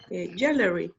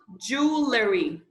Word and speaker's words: jewellery: buying new clothes and jewellery to welcome this thank you this word is a little bit complicated to pronounce jewelry Jewelry jewelry jewellery and then the e is silent Silencio sir a levy jewellery jewellery jewelry very good